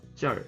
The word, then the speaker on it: 劲儿: 하겠지만 마라는 표현을 덧붙이고 찐에도 이제 얼자를 붙여서 쩔 이렇게 이제 발음을 합니다.